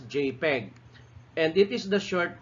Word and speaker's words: JPEG: file names that jpg this is pronounced as jpeg and it is the